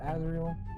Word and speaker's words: Azrael: By the way, did I pronounce that right? Azrael? Yes. Azrael is my name, yes.